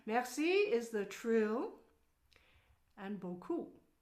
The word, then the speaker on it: beaucoup: Okay, so you've got merci is the trill, and beaucoup. So beaucoup is one word with two syllables.